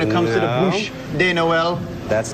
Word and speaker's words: Bûche de Noël: Bûche de Noël, Drew. Bûche de Noël. He's so patient with you. Bûche. He's mispronounced that all morning long.